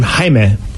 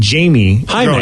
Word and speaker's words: Jaime: mexican name it's called it's his name jaime but he hated it because the way he spells it people would call him jamie oh hi i have